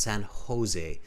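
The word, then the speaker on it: San José: it's Jose in um in Spanish the J sound is ha ha they pronounce it Spanish speakers pronounce it as a huh sounds San Jose not Jose just correcting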